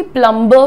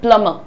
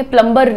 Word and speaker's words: plumber: तो इसीलिए हम इसको जो है अंग्रेजों की तरह बोलते हैं प्लम्बर। कैसे बोलेंगे? प्लम्बर नहीं बोलेंगे, प्लम्बर।